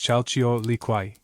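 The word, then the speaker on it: Chalchiuhtlicue: Beside Tlik stood Kyle Leu, pronounced Chaio Liquay, she of the jade skirt, the goddess of horizontal water, rivers, lakes, seas, and springs.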